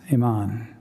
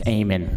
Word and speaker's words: Eamon: And presenting will be Iman. Did I pronounce that right? It's Eamon, Eamon.